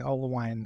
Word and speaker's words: Oelwein: Let me start out by asking, one, am I pronouncing Oelwein correctly?